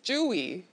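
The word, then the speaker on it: 츄: No, Suyu, how do you say it? In Korean, it's Chewy. Chewy? Yeah. How do you want me to say it? 어떻게 그 발음을 했으면 좋겠어요? Chewy. Oh, how you say it's adorable. That's right. Yeah, that is adorable. Okay, so Chewy.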